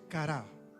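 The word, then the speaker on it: קרא: hace referencia de una palabra también hebrea que se pronuncia cara, y que tiene y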